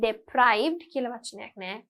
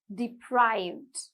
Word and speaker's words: deprived: go to bed late sleep deprived not deprived deprived okay sleep deprived alert it's not